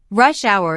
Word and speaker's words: rush hour: to 6 30 P.M notice that rush hour is a compound noun with the main stress on the first word isn't that this is